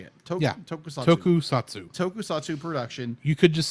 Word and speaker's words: Tokusatsu: Tokusatsu. Tokusatsu production. You could just say Toku for ease of use. Tokusatsu. I'm going to say Tokusatsu. I think. Okay. Just giving you the official short word. Yes. Tokusatsu franchise, offering a neo-light look at the city-smashing